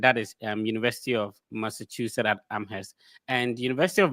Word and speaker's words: Massachusetts: So I completely understand when people say master Jesus like you don't want to know how you pronounce it.